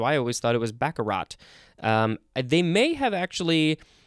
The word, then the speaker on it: baccarat: t actually so it's baccarat b-a-c-c-a-r-a-t it's spelled with the t but the t is not pronounced we would call that a silent t this is a noun